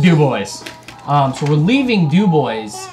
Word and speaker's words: Dubois: Of course, it was named after a French trapper named Dubois, but because Wyoming is Wyoming, it's pronounced Dubois.